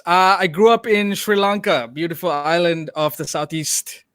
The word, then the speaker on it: Sri Lanka: do you pronounce that it's a sri lanka so it's like an sh uh sound so and then your